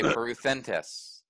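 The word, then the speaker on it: πορευθέντες: So, poruthentes. And actually the accent's here, so you'd say poruthentes.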